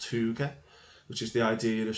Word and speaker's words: hygge: I think it's pronounced hygge, which is the idea of sitting around or